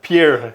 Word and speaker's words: Pierre: of South Dakota it's spelled Pierre not in South Dakota it's it's pure South Dakota pure it's pure South Dakota